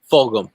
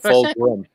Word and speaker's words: Fulgham: Could you pronounce his name right? Fulgham. You said Fulgham.